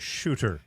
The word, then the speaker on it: Suter: I believe it's pronounced shooter, by the way.